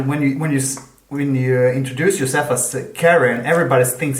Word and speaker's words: Karin: Karin. Karin. Okay. And abroad I'm Karin. It's just easier to say. Yeah, but that's also everybody when you introduce yourself as Karin, everybody thinks it's Karen, and so always when